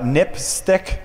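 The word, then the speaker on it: NPSTC: Safety telecommunications commission um which is is pronounced uh nipstick which is kind of a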